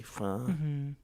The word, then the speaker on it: pho: Yeah, or like pho. When people are like, "It's actually fun."